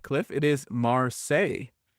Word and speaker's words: Marseilles: It is Marseilles. It is Marseilles. Oh, because it's spelled differently.